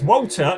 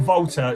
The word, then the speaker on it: Walter: Uh it's Walter, not Walter.